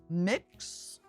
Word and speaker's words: Mx: this one oh no sometimes the x is used in the place of being the non-binary option and it makes sense in all things sometimes except for pronunciation sometimes I'm um I do look and wonder how you say that mix MX I think it's usually set as just MX isn't it said like mix I don't know my